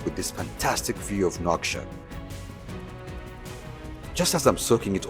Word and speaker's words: Nouakchott: Nouakchott. Nouakchott.